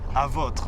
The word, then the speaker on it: Avotre: I'm going to pronounce it in French, right? Of course. Avotre.